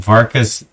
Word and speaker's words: Varka: It rhymes with parka, and those are Russian coats, Thank right?